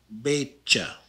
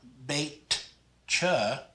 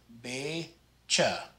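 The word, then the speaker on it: beetje: this is pronounced meisha the tj is pronounced just like a ch in english so this is betcha not baked cha you don't want the tea there anymore you just want be cha the k sounds just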